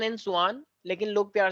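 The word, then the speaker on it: Schwann: तो इनका नाम वैसे तो स्लीडन एंड स्वान है प्रोनाउंसिएशन वाइज, लेकिन कुछ लोग क्योंकि स्पेलिंग याद करनी होती है तो कुछ लोग इनको बोलते हैं स्केलेटन एंड सकवान, लेकिन ऐसा है नहीं, स्लीडन एंड स्वान है ये, ठीक है।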